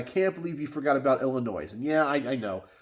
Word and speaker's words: Illinois: believe you forgot about Illinois and yeah I I know Illinois is it Illinois or Illinois I know you're not supposed to pronounce the S maybe I forgot I'm